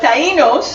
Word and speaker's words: Taínos: So the Taínos, that's how it's pronounced, were pretty much, they thought the Spaniards